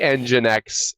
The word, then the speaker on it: nginx: management stories with free engine X is I mean is maybe how I would say it and how I'm going to say it since it's my story